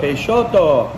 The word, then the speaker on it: Peixoto: It actually tells you how to say it on the cup. It's Peixoto. Brazilian, so they got all kinds of fancy base from like Portuguese.